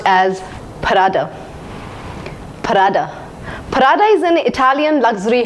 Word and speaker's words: Prada: shoes and so on the next brand is pronounced as parada Prada Prada is an Italian luxury house famous for